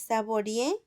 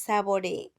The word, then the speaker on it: saboree: No es saborie, es saboree.